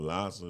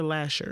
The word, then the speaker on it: Lasher: Lasser? That's Bright. I don't know. Is it Lasser or Lasher? It's Lasser, actually. Lasher. It's Lasser. Lasher. It's spelled L-A. S-H.